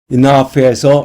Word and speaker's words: enough: enough에서 맨 끝에 GH는 발음되지 않죠.